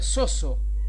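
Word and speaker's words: σῴζω: esta palabra soy salvos en griego se pronuncia soso soso eso hace referencia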